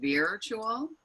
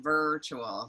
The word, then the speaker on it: virtual: in this virtual world i thought i was hearing it with a long e i was saying virtual and veer has a whole different meaning it's like like to veer off the road so it's actually er like virtual so we're having a